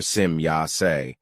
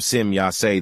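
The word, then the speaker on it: Semjase: my daughter Sim Yas when the e at the end of the name is pronounced as I in English. Simyas is a very old name which we play took from an old Lyron dialect. It means the demigoddess. But if the e at the end of the name is pronounced as I as it for example done in the English language then this results in a very evil unvalue.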